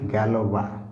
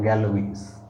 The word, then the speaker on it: Galois: This is pronounced Galois, okay, not Galois.